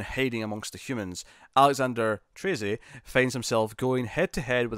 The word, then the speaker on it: Trese: I think it's Treze, or Treza, maybe. No, it's Treze. It was like Trey and then say, Treze. It's Trese.